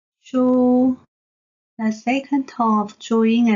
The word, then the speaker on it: 書: mark of tones, because the zhuyin shu is not marked with an intonation symbol, so it belongs to the first tone of the four Mandarin tones of zhuyin, then pronounced shu.